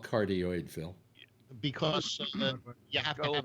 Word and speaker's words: cardioid: Carada, how do they pronounce it when you got that pattern? It looks like a heart. Cardioid.